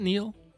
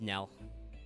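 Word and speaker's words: knell: death kneel in fact is it neil no it's nell mel death nail yes it's one of yeah it's a very english word i don't know i don't know why we spell it that way maybe it's the norman's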